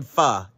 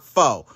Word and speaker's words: pho: it very seriously and today we are making f it is pronounced F not fo so now that you know stop pronouncing it